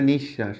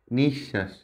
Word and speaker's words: নিঃশ্বাস: বিশ্বাস নিঃশ্বাস রাজত্ব অশ্ব দেখো পড়ার সময় প্রত্যেকটা লেটার বফালা যেখানে যেখানে আছে মানে শব্দের মাঝখানে এবং শেষে যদি ব ফালা থাকে তাহলে যে লেটার সাথে থাকে যে বর্ণের সাথে থাকে সেটা ডাবল হয়ে যায় যেমন নিঃশ্বাস এখানে তালবস